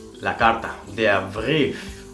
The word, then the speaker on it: Brief: Si acabamos de hablar de E, I con ay, luego tenemos I, E, que se pronuncia como una I.